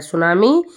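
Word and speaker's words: tsunami: भाषा का शब्द है सुनामी जापानी शब्द है इसे टी सन कहा जा लिखा जाता है और टी साइलेंट रहता है जबकि चीनी भाषा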